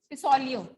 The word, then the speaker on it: Pacioli: Paciolio. ठीक है. Pacioli. क्या बोलेंगे, कैसे प्रोनाउंस करेंगे?